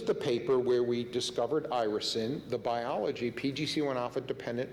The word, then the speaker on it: irisin: The way we pronounce it is irisin, the god is Iris.